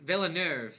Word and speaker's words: Villeneuve: I don't know how you say it. Villeneuve. That's how you say his last name.